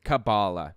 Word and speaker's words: Kabbalah: And by the way, it's pronounced cabal. The root word being, or the etymology of it, coming from the word Kabbalah, Jewish mystic practice or whatever, some Jewish mysticism thing or whatever.